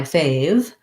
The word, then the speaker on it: fave: And in that case, you have the same sounds as the first syllable, fave. Make sure your A diphthong is long. It glides from the tense A to the slightly more relaxed A, fave, fave.